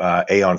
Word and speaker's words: Aeon: I should note, by the way, all right, with Aeon 14, technically the English pronunciation of that word would be Eon, but I'm going with the Latin pronunciation, so that's why I'm calling it Aeon, just in case anybody wonders why I say that.